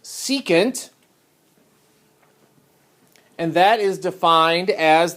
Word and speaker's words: secant: the next one is abbreviated s that is pronounced secant and that is defined as the flip of